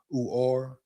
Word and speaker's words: Uhar Bernard: Uhar Bernard, pronounced Uar, measured in earlier this